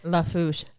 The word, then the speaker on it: Lafourche: Lafourche.